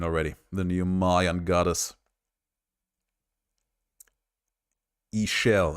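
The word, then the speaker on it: Ixchel: the new Mayan goddess ishel apparently is how you spell it out which is not what you would guess if you see the name written out I initially thought her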